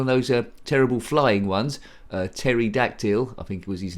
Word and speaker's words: pterodactyl: Pterodactyl, I think was his name. And yes, pterodactyl spelled with a P.